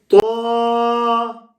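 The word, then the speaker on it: ط: And remember point about To. To have two qualities. Also class letter and also have full mouth. Okay? Only To. They are pronounced when the tip or the edge of the tongue meets the roots of the two front teeth.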